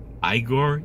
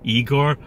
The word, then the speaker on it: Igor: Igor, Igor. No, you need soft R sound at end.